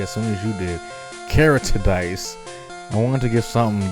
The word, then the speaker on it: Keritedice: going to be as soon as you did carotid dice i wanted to get something unique i don't know i saw i made up something i made a name up character dj that's how it's pronounced character dj all right carrick oh let's